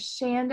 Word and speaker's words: Shanda: Colleen had back there my name is Shonda and it rhymes with Panda Shan to Candice Gymkhana